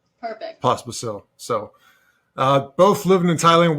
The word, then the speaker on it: Pospisil: Did I pronounce that right? Correct. Perfect. Pospisil.